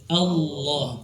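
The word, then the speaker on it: الله: Ya, jadi kalau membaca Allah jangan Allah. Allah tidak, langsung Allah, tebal. Allah. Ya. Nanti kita latih di kalimat Allahu Akbar.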